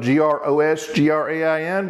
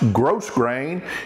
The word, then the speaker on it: grosgrain: It's spelled G-R-O-S-G-R-A-I-N, but it's not pronounced grosgrain.